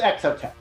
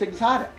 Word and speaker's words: XOTEC: That's so funny, because in Canada, it was always pronounced exotic. Yes, there you go. So the American pronunciation is XOTEC, and the Canadian pronunciation is exotic.